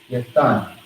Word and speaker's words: Yathan: We have the ya, the th. Well, so ya is by itself. The th is connected to the nun. So when you put it together, you have thun. So we got ya by itself, and you got thun together. Yathan. All right?